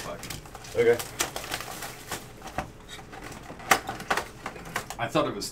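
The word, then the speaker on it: Tuch: Pretty sure it's Tuck. Okay. I thought it was Tuke or Tooch. And everybody said it's like spelled like Tuck. Or pronounced like Tuck.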